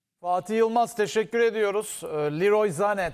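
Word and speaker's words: Leroy Sané: Liroy Zane tabii ki doğru telaffuzu. Burada da alışkanlık olduğu için o alışkanlığı bozmamak adına Sane'den devam ediyoruz biz.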